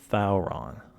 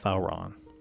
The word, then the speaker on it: Thauron: Now, the way you pronounce this is Thauron. Thou, like TH, Thauron. I'm not joking. That's how it would be pronounced in Quenya.